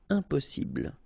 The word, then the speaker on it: impossible: Don't insist on the final E. Impossible.